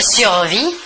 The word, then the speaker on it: survis: du verbe survivre il se conjugue ainsi je survis tu survis il est loué on survit l'on